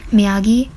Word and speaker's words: Miyagi: There was also the fact that it was going to be a long trip from Miyagi, yes, that's how you say it, Miyagi to Tokyo, which was 4 hours and 26 minutes.